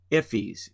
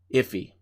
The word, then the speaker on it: IIFE: more detail immediately invoke function expressions are called iffies in the JavaScript world that is the way you pronounce that iife that you see at the end there on that title line iffy and iffy is simply defining a function and